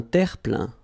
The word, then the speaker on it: terre-plein: Un terre-plein. Un terre-plein. Remember this E-I-N nasal. So it goes in your nose and it's un plein, plein.